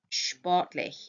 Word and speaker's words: sportlich: You've just got your SP, if you remember from your key sounds, sportlich, yeah? So your SP in German is pronounced sh, yeah?